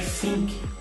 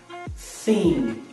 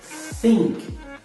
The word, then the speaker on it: think: Um segredo para pronunciar corretamente é você tentar falar o som de S com a língua entre os dentes. Por exemplo, think, think, I think so, thank you so much.